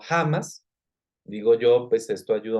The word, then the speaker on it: Hamás: Bueno, Hamás se creó en el 1987, se pronuncia Hamas, no Hamas.